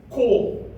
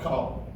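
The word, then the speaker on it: כל: It's the Hebrew word that means all of, and this word is pronunciated kol and not kal.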